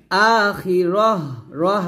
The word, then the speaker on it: আখিরাহ: টান দিবেন আখিরাহ আখিরাহ আকলে টান দিবেন আখিরা এটা না আখিরাহ জবর এমন হবে এভাবে আবার বলেন এখানে